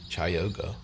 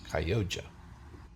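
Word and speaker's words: Chioggia: Last week I pronounced the beets chayoga, but it's actually pronounced Kyoja.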